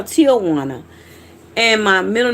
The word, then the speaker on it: Tiawanna: Um my first name is Tiawana, which is different. It's Tiawana, but it's spelled t i a, but it's pronounced t. Almost like t i l, Tiawana.